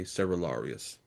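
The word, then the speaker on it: Cerularius: And I've heard his name pronounced several different ways. I'm going to try to just be consistent in my own pronunciation here and just say Seralarius.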